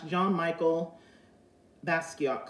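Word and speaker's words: Jean-Michel Basquiat: say it correctly it is the coach slash john michael basquiat collection so as you can see this is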